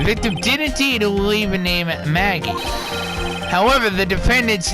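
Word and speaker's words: Maggey: absolutely certain true it does say Maggie but it's spelled wrong her name is Spode mheg ey9 mheg IE sure exactly yes I know that now take a look at this see mheg ey that's how it's spelled victim would not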